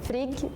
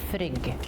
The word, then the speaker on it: Frigg: So in Swedish, we would say Frigg or Frigga. In Norwegian, we will say Frigg. In Danish, you would say frig. I kind of like that it's not always the same like amount of syllables, but again, it's Frigg.